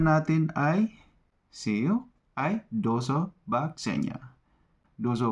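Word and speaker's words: do zobaczenia: sunod na pag-uusapan natin ay see you Ay dozo b senya dozo b senya Paano ba yun dozo Bach zenya yun para Mas malinaw galing so nakakailan na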